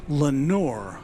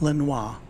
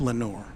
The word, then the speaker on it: Lenore: And Mark Pell corrects me, it's pronounced Lenore. Lenore. So it's not Lenoir, but it's Lenore.